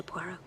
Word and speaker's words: Poirot: a par with Mr poot no no no no pu it is pronounced pu I'll beg a pardon